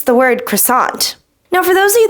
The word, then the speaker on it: croissant: this thing right here I pronounce it as croissant now I know in French it is not pronounced like this a lot of people